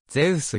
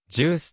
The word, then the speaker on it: ゼウス: 配備された由来はギリシャ神話の出身ゼウスより英語式の発音に基づきジュースとも呼称されるありがとうございます